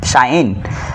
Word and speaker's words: sin: সাইন, এটার উচ্চারণ হলো সাইন, তারপরে কোসাইনের পুরাটা ব্যবহার করি না, শুধু COS প্রথম 3 অক্ষর ব্যবহার করি, তাহলে কস, তারপরে এখানে বসবে কোণ।